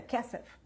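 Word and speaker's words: כסף: E aí o rabino tirou o espelho, tirou o desejo, tirou a prata, tirou o kesef, a pronúncia é kesef, aprendi com a Anaísa, kesef.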